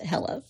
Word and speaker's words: Helle: her name is Hela h e l l e but it's pronounced Hela okay before we get